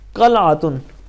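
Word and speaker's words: قلعة: सिपाही या सैनिक के लिए। सही। वहाँ है? सैनिक, क़लातुन इसका मतलब है एक किला, जो गलत उच्चारण इसे काला कहते हैं।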